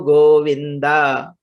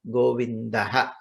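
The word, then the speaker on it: गोविन्दः: Karamule tu Govindaha. This is another common mistake. Many people say Karamule tu Govinda. Wrong. It is not Govinda, Govindaha.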